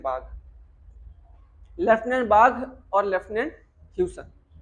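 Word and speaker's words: Baugh: बाग बाग बाग, ये अजीब सा इंग्लिश में अजीब सा सरनेम है इनका, वो बाग ही उसको प्रोनाउंस करते हैं, बाग।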